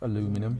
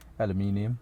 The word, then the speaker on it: aluminum: Is that the right way to pronounce aluminum? Yeah. In American way, because it's aluminium.